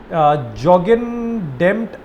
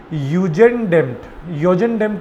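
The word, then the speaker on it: Jugendamt: Care service organisation है, तो इसको वो जे को ना वो लोग प्रोनाउंस नहीं करते, तो वो इसको यू से प्रोनाउंस करते हैं, योजन डेम्ट इसको वो प्रोनाउंस करते हैं, तो ये योजन डेम्ट है।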